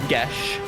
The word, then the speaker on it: geas: Derived from Gaelic, so it's Gesh.